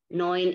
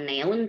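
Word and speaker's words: neun: dibacanya panjang misalnya disini ada Noin itu angka 9 Noin bukan neon tapi Noin Kalau ini ada eye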